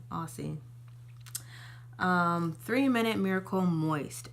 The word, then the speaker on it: Aussie: And my third favorite deep conditioner is Aussie, that's how you say it, Aussie.